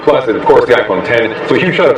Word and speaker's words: iPhone X: Yo guys, Jonathan here, and this is iPhone 10. Now to clear things up, yes, it is spelled out iPhone X. The correct pronunciation, just like Final Cut, just like Logic, is iPhone 10, the number.